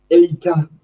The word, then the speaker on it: EITA: How do you pronounce it? What is that? EITA.